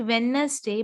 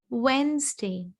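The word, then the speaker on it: Wednesday: इट्स नॉट वेडनेसडे बट इट इज वेंसडे. वेंसडे.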